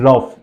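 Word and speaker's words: rough: है फ पढ़ना है let's see some example लाफ टफ कफ एंड रफ चारों स्पेलिंग देखिए लाफ टफ कफ रफ ये सा चारों स्पेलिंग में यू के बाद जी एच है यू साइलेंट है और जीएच को हम फ पढ़ रहे हैं लाफ टफ कफ एंड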